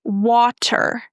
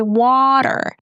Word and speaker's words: water: So it sounds like the d sound. You might have noticed that in the word let's say water. Americans don't say water right? They say water.